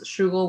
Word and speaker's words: Shugel: So the S2 part is just a heart, but it's Shugel, which is my gamer tag spelled like Google, but with SH.